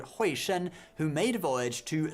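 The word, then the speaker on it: Hui Shen: I said Huixin, but it's Huixin.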